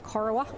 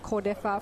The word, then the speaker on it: Cordeffa: We've been calling him Corowa all season, the spelling of his name, but we're going to call him Tex Cordeffa from now on, which is how it's pronounced.